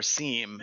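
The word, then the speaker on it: SIEM: I've always wondered if it's sim or seam. And Blake won. It's now from pure forth, it's sim. It's the only way. J is silent.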